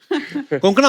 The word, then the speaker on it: कोंकणा: और आई am sure अगर आपको कोई पंजाबी मिले, वो हमेशा कंकना बोलेगा। कंकना, कोंकणा, क्यों साउथ में तो कणकणा नहीं भी बोले।